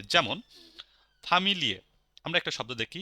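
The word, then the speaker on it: Familie: hidden কোন tricks নেই সবকিছু নরমাল যা আছে সব উচ্চারণ হবে যেমন ফামিলিয়ে আমরা একটা শব্দ দেখি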